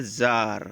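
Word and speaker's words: czar: एक प्रमुख हुआ है जार इसका उच्चारण हम लोग क्या करेंगे इस जार सी का उच्चारण यह सैलेंट रहता है मैं जार जार पर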